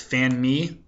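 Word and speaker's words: fanmi: family in Asian Creole that's going to be pronounced fan me f a n m i fanme and you might hear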